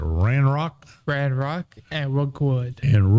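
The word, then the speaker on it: Ranrok: uh r R Rock how do you say that ran Rock Rand Rock and Rookwood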